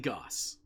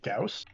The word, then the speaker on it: Gauss: AP Goss. So some folks pronounce it Gauss. I actually find I switch pronunciation depending on the weapon.